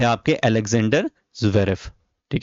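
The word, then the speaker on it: Zverev: तो वो थे आपके एलेक्जेंडर ज्वेरेफ। ठीक है? एलेक्जेंडर ज्वेरेफ या वेरेफ भी इनको लोग बोलते हैं। आप इनको एलेक्जेंडर ज्वेरेफ प्रोनाउंस कर सकते हैं।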